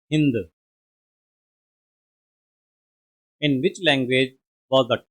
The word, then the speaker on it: Hind: How did the Persian pronounce the word Sindhu in their language? And correct answer is B. Hind.